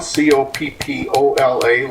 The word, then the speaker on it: Coppola: Well, my name is Coppola, Coppola, like Francis Ford, but I pronounce it differently.